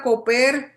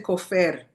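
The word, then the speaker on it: כופר: La palabra coper, en algunos sitios dicen cofer, cofer, pero en hebreo recuerden que cuando no hay vocales se puede pronunciar de las dos formas, traducido como expiación.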